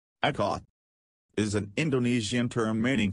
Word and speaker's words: Ikat: Someone yelled Ikat, and a few children giggled. Janaki teacher said it is pronounced I as in it, ka as in Kamala, and T as in both. Ikat is an Indonesian term meaning to bind or knot.